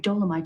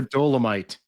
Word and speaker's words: Dolemite: Valerians ran weapons-grade dolomite to the Cardassian forces during the occupation of Bajor.